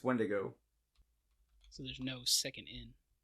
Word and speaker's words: Wendigo: To be fair, a lot of people say Wendigo, but it's Wendigo.